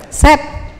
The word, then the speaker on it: said: Bukan Said ya. Ini apa nih? Said. Masa Said? Ini kalau di kamus cuman S, E sama D. Jadi bunyinya gimana? Set. Udah set aja, jangan Said.